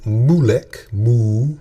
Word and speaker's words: Moolec: Now keep in mind the company is named Molech. See it here? Molech. And it's spelled Moolec.